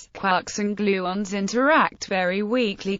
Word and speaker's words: quarks: the illusion to three quarks seemed perfect Gilman however wanted to pronounce the word to rhyme with fork rather than with Park as Joyce seemed to indicate by rhyming words in